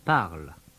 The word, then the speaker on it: parlent: It's spelled P-A-R-L-E-N-T, but it's still pronounced parle.